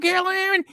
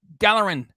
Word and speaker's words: Gallerin: So, happy birthday to you, Gallon. Oh, shucks, I said it wrong. The fat dummy doesn't say it right. It's Gallerin.